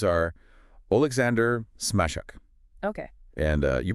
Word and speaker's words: Smazhuk: their names are Alexander smash okay and uh you pronounce it Alexander smek so the the there's like the s in measure gotcha and Helena konova